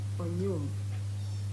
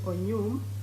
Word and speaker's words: Onyum: Child's name is Surel Onyum. Spell it. Z-U-R-I-E-L, Surel. Erinnya ly'omwana ye Zuriel And the Onyum. second? Then Onyum is O-N-Y-U-M.